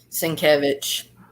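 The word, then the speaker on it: Sienkiewicz: same thing about Bill sinkovich oh yeah absolutely isn't that right I always defer to Lady fantastic to the proper pronunciation uh cinquevich yeah that's it it's to the point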